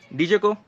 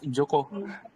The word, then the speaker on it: Joko: Dijoko, is it a correct pronunciation, dude? Yeah, it's Joko.